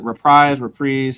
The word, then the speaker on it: Reprise: Guys, is it reprise? I always mispronounce it.